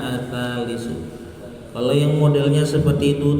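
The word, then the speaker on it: الثالث: Yang bacanya ats-tsalitsu.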